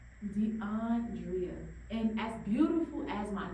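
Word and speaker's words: D'Andrea: DeAndrea. DeAndrea.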